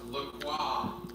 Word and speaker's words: LaCroix: It's supposed to be pronounced LaCroix. Oh, LaCroix. LaCroix. It's French.